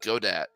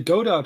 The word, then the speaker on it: Godot: Just to see if I can, because I haven't really done Godot. Yeah, how do you do you say Godot or Godot? I always say Godot, but it is Godot.